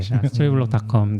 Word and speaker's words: Storyblok: 스토리블록.닷컴. 네. 많이 사랑해 주시면 좋겠습니다. BL입니다. 블록이 BL CK가 아니라 스토리 BLOK. 네. 그리고 이게 또 발음은 똑같은 거 같아요.